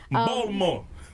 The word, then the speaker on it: Baltimore: That's not how you say it. Please say it right, because KJ will correct me. I say it wrong. I do Baltimore. No, that's not this. She say the T. Put some respect on the town.